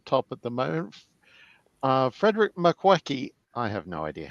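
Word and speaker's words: Makowiecki: Frederick Makwecki, I have no idea how to pronounce his name. Makoviecki.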